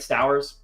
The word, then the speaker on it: Stowers: Then I have Kyle Stowers, who I always pronounce his last name correctly. Toast, is that right? Stowers? Okay, yeah, got that right.